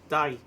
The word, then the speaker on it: Dai: Dahi. Dai. It's the Irish version of David.